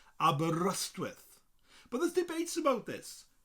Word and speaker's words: Aberystwyth: in english but in welsh i would say abba rust with but there's debates about this people further up midwest often say abreast with well well it's down here in south wales